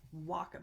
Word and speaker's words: Wacom: need it for the Wacom. I looked it up. I listened to a video from Wacom, and they said it rhymes with Rock'em, which is not a word either, but like Rock'em Sock'em Robots.